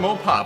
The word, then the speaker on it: Mopar: Industries because they they carry a lot of mopar parts Mo papa papa Parts more parts Mopar